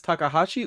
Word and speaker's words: Takahashi: Um, t uh tak is this would I pronounce this as takahashi or takashi?